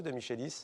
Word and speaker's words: de Michelis: De Michelis ou de Michelis? De Michelis. De Michelis, c'était la bonne prononciation.